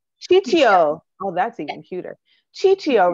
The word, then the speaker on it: Ciccio: Anita helped, pronounce it for me again. Ciccio. Ciccio.